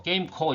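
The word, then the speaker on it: GAMECO: 정비 n 지정 회사인 can ceo 우리가 뭐 뭐 게임 코 이렇게 발음 한다고 하네요 이 회사 하고 내년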